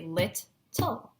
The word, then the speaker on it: little: So, when we break up little into its syllables, it's actually lit-tull. So try and say that. Lit-tull.